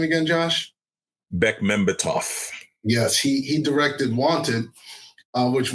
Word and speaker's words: Bekmambetov: How do you pronounce his last name again, Josh? Bekmambetov.